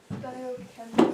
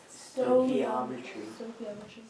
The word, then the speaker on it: stoichiometry: Stoichiometry. How do you think you say that big word? Stoichiometry. You're actually supposed to get an oi in there. Stoichiometry.